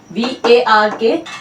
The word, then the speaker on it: VARK: तो इसे हम ऐसे ही प्रोनाउंस कर रहे हैं, VARK।